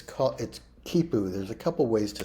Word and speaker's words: quipu: It's quipu. There's a couple ways to spell it.